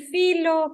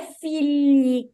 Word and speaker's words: figli: Il figlio, questo è un figlio. Ah, tá, fili, E filho é o plurale, Fio, que não é figli com D. fili, Ó, fili. la differenza di pronuncia è molto sottile.